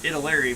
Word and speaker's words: Italeri: Well, I call it Italeri because it's from Italy.